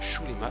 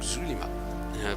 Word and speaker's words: Xulima: Alors vous noterez que depuis le début je prononce Shulima et non Zulima, pour la simple raison que Golen, à chaque fois qu'il parle de ce continent, le prononce Shulima.